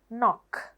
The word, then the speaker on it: knock: එතන K silent. Knock. එතකොට මොන K එකද silent? First K එක. පළවෙනි K එක තියෙනවනේ. මේ K එක silent.